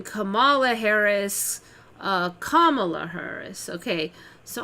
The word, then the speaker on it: Kamala: And actually, when I heard Trump say that, I thought the wrong was when he said Kamala. But that's actually the correct pronunciation. Her name is Kamala.